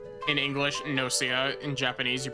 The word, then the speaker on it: Gnosia: I assume you don't pronounce the G. I assume it's not Gossia. I'm not a Gelf. I'm not a Gnoblin. I'm a Gnosia. In English, Nosia.